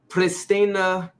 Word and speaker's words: Pristina: Now, you're originally from Pristina, Kosovo. Am I pronouncing that right? Pristina, Kosovo.